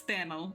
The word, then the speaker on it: Thano: Think of it like flannel with a th So it's Thano.